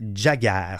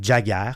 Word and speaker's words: Jagger: Alors, je veux vous parler du film Yossi et Jagger. Ça s'écrit comme ça se prononce, Y-O-S-S-I, et Jagger comme Mick Jagger, du réalisateur Eitan Fox, un cinéaste gay israélien né à New York.